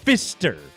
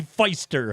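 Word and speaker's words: Pfister: names are pronounced funny when you put the St in there it's Fister Fister Hotel not the Feister Hotel let's call them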